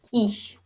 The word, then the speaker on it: кич: То есть мы знаем то, что в татарском языке буковка Ч, оно произносится как Щ. Аңладығыз, әйме? Киш.